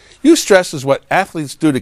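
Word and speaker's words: eustress: there is such a thing as UST stress that's spelled EU hyphen stress you stress is what athletes do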